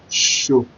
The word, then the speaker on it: ṣo: Just like you want to call shoe, but not that shoe. Show. Like you want to call show. Like like you're going to a show party or something. It sound the same, similar.